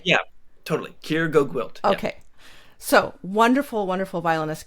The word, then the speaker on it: Keir GoGwilt: I don't know how to pronounce his name. Yeah, totally. Keir GoGwilt.